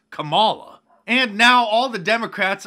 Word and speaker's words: Kamala: running mate and then clarified that her name is kamala not kamala and now all the